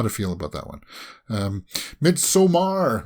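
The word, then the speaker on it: Midsommar: feel about that one mid somar midsummer some people pronounce it I always say mid Samar because two hours was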